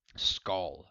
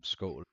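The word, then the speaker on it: skål: again all you guys school skull as i guess that's how they say it now in viking series games skull because like drinking out of our enemy's skull it's like no no school it translates to well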